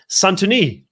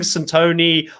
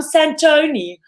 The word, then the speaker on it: Santoni: name the whole season apparently i've been pronouncing centone or santini i don't know what